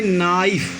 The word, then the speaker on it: knife: यहाँ देखिए इसका स्पेलिंग क्या है, यहाँ KNIFE। इसे स्टूडेंट हम क्या पढ़ेंगे? नाइफ, इसे हम नाइफ पढ़ेंगे।